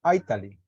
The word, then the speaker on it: Italy: Aquí como yo lo estoy pronunciando, es como pronunciando la T, Italy, pero también se podría decir como Italy, que es como con una R, se podría decir Italy.